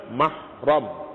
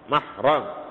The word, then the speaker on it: mahram: Rumi ketara baris itu jadi yang Betulnya dalam dalam nikah nama kita sebutnya mahram mahram jamaknya maharim mahram kalau orang yang sedang ihram bacanya muhrim ini mahram hat alikum ummahatukum